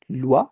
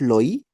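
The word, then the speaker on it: loi: सो एम ओ आई इज मुआ similarly L ओ आई इज लुआ इट्स नॉट लोई है ना एस ओ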